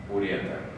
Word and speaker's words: уретр: И уже эта часть, незначительно выходя за пределы синуса, будет продолжаться в мочеточник, уретр.